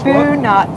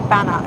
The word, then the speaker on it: Bunut: Bunut Susu. That was where we were just... Yeah, he's just telling us Bunut, U as in you, not A. Bunut Susu. Because we said Banat, I think.